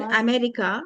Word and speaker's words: America: in the word America, see the first and the last A sounds here. One A is there, another two A letters and they both of them should be pronounced as Awa. America, America, America.